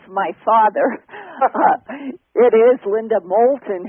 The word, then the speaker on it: Moulton: last name is Molton it's the English with a long o Molton it's not French and uh I know